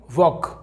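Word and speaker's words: walk: हैं और देखिए आगे वॉक यहां पर दोस्तों एल साइलेंट है के से पहले एल साइलेंट होता है तो वॉक का मतलब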